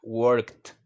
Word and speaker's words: worked: No, tiene su pronunciación característica, worked. Un sonido de T al final.